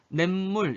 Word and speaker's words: 냇물: 냇물 이렇게 발음하잖아. 니은 소리가 덧났죠?